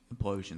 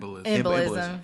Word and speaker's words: embolism: So this thing that you had, Darnell, pulmonary implosion. Did I say it right? Embolism. Embolism. Yeah.